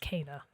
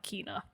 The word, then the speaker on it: Kena: getting to finally play Kana. That's right. Bridge of Spirits. Oh my God, Mogan, it's here. Also, we've realized that it's pronounced Kana and not Kina.